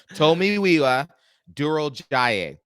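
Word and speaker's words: Tomiwa Durojaiye: I went there and this is the pronunciation it's to miwa towa tomiwa Duro Jay Duro Jay Duro J we're all learning together we're all learning together so Tomy WEA Duro Jay and they called him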